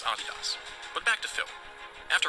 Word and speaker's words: Adidas: by the way that is indeed how you pronounce Adidas but back to philm after writing that paper